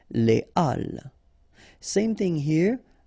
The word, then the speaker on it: les halles: So in that case, you shouldn't make the liaison, so you shouldn't say les halles, but you should say les halles. Okay, les halles.